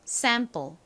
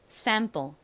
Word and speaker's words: sample: 소리가 아니라 좀 세게 sample sample 이렇게 쌍시 옷에 가깝게 발음이 나는 경우가 많습니다 참고로 기억해 두세요 자